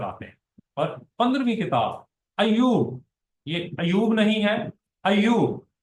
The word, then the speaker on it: ایوب: ایوب کے معنی ہے۔ صحیح تلفظ اس کا ہوگا ایوب۔ ایوب عبرانی لفظ، اور